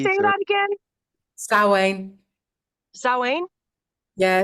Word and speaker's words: Samhain: Samhain. Samhain? Yeah, it's spelt Samhain, but it's said Samhain.